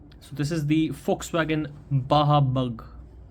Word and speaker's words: Baja: BAJA is not Baja. And this is for the Indian audience, and you know, even when I was very new to this, when I was a kid, I pronounced it as Baja, but it's Baja.